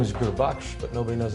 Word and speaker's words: Gurbaksh: being respectful of someone and my name is guru buck but nobody knows how to pronounce it so everybody just started calling me